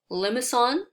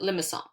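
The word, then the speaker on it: limaçon: a hard c and makes it an s sound so you would pronounce it limison okay so this is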